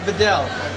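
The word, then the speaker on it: Viognier: eastern US of Mero is that how you pronounce it VI yes are you sure I'm sure there's a g in there there is a g but we sort of forget the G we just slide right is it safe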